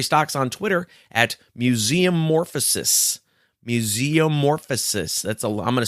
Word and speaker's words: Museumorphosis: Museumorphosis. I'm going to spell that. It's Museum Orphosis. So it's like museum and then ORPHOSIS.